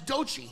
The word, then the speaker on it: Doechii: That's Doechii.